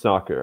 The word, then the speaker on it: Sacer: second sorry about that I'm back uh it's pronounced soccer actually at least and if you take the